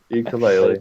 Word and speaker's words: ukulele: Ukulele. ukuleles. Plays It's pronounced ukulele if you want to be official. ukulele. If you go to Hawaii, that's how they pronounce it.